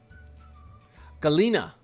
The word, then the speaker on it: Galena: Someone someone corrected me so I'm saying it right. Galena. I think someone said Galena. Galena Galena. Okay. Galina. All right, I'm I'm going to pronounce this right for you guys. Galina. Galina. Got it.